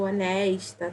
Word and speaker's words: honest: que vai significar honesto, honesta, tá? E aí eu também não tenho som de H, a palavra não se fala honest, não pronuncio o H, eu começo com honest, com som do O.